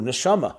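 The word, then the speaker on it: neshama: And indeed in Hebrew nishama soul pronounced differently is nishima is breath breath and soul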